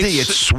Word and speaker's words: sword: It's not sword. S O R D. It's sword. I know how you spell it. I know you do, but you got to say it the right way. It's sword like He-Man had a sword.